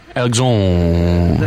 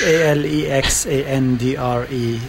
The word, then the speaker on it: Alexandre: And it's pronounced Alexandre. It's Alexandre.